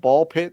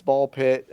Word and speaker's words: BALL x PIT: Um I'm interested in playing a game called Ball Pit that came out this week. Uh it is a it's like Hunter Hunter where you don't pronounce the X.